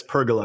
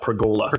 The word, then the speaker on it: pergola: And it's pergola, not perola.